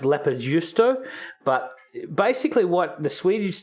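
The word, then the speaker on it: leipäjuusto: It's actually a Finnish squeaky cheese, which is pronounced leppärjuusto.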